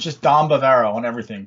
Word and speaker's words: Dom Bavaro: It's just Dom Bavaro on everything. DOMBAVARO. Same as what you see it if you're watching on Facebook. Spelled the same way as my Facebook name. It's spelled exactly how it sounds.